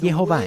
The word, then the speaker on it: Jehová: Nosotros no sabemos quién es este hombre, pero él recibió esto como una tradición de que la pronunciación verdadera del nombre es Jehová, y la forma en